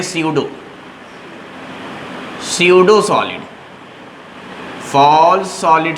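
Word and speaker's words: pseudo: अच्छा, फॉल्स के लिए एक नाम है बाकायदा, फॉल्स कहते हैं स्यूडो को, इसको प्रोनाउंस करते हैं स्यूडो, स्यूडो सॉलिड।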